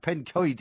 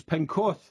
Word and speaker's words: Pencoed: So we can now verify that the pronunciation of Pencoed is in fact Pencoed, you plonker. That's the pronunciation. Yeah, but that's a Welshman's pronunciation of it. What I'm saying is the English pronounce it as Pencorth.